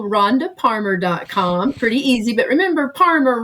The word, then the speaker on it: Parmer: Pretty easy, but remember, Parmer rhymes with farmer.